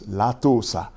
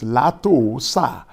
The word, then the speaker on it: Látòósà: I know you will pronounce it as Latosa. But, is that the right pronunciation? Let's see. That is not the correct pronunciation for that name. That name is Latoosa or Latoosa.